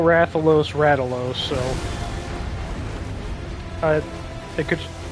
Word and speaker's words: Rathalos: like English people just pronounce it ralo for some reason and it's dumb it's Rathalos it's quite clearly Rathalos all right you see